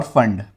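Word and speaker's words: Pfund: Lyman, Balmer, पाश्चन, bracket और फंड P silent होता है यहां पे फंड सीरीज।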